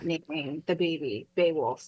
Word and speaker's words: Beowulf: Beowulf, yeah.